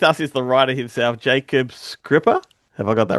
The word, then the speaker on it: Jakob Skrzypa: But anyway, here with us is the writer himself, Jacob Scripper.